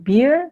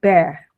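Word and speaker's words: bear: Kemudian untuk kata ini binatang itu membacanya Bukan bir tapi Bere Bere Hai Terus yang ini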